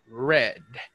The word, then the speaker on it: read: someone already said it red like the color red so this is this